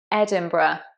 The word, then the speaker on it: Edinburgh: So there is an R in there, but it's not quite in the place you expect. It's Edinburgh, Edinburgh.